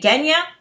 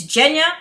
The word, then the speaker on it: Genya: with these words changing like jenya i was pronouncing it genya and it's jenya so i have to correct myself so mal